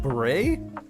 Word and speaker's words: beret: Beret is that wait it's pronounced like buray are you sure I've